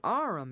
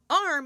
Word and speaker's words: arm: what's that in the window sure it's an aurum your honor he pronounced it Aram and arm you Goose whoever saw one that size why